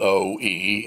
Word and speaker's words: Oe: So it came out O-E, and it stuck. So everybody calls her Oe, O apostrophe E-E.